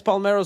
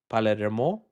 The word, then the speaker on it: Palermo: Also, my name is pronounced Palmero, not Palmero. Oh, Palermo? Palermo? Okay.